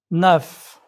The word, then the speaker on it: neuf: However, 4 consonants are often pronounced at the ends of words. Prononcez, s'il vous plaît. Parc. Bonjour. Neuf.